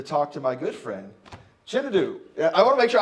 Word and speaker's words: Chinedu: Oh, hands down, Shanae. They said Shanae. They just looked at it. Shanae. How did they get that from that?